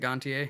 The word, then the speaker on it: Gontier: um engantier corey taylor is it gontier yeah because it's french but uh corey taylor